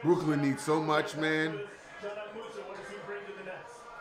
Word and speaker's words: Dzanan Musa: That's how you say his name, Dzanan Musa.